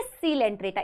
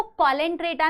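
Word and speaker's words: Coelenterata: है, नीडेरिया या फिर सीलेंट्रेटा, इसको कॉलेंट्रेटा नहीं बोलना है, दिस इज सीलेंट्रेटा, ठीक है, this is सीलेंट्रेटा, this is नीडेरिया।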